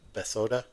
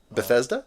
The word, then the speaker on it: Bethesda: And even even like and I've played other I'm going to screw up the pronunciation always. Bethod Bethesda.